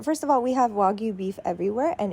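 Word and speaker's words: wagyu: of all we have wagu beef everywhere and it's pronounced wagu not wagu and then I looked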